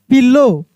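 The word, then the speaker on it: pillow: बैग एंड a soft पिलो देखिए ओ डब्ल्यू है तो डब्ल्यू का उच्चारण नहीं हो रहा है केवल ओ का हो रहा है पिलो they walked on they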